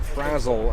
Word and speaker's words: Frazzle: On the pronunciation guide, I was given Frazzle as the pronunciation there.